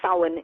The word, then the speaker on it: Samhain: And so when you're turning, and it's pronounced so in English, and it's pronounced Samhain in Irish, into the season of Samhain, which